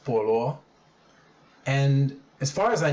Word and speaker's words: 菠萝: china these two characters up here this is pronounced polo and as far as i know but separated